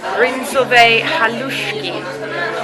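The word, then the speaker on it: Bryndzové halušky: I am going to be trying the Rinzové halušky. Potato dumpling. Yeah, I actually pronounced it right, which is potato dumplings with sheep cheese sauce, roasted bacon, sour cream and chive.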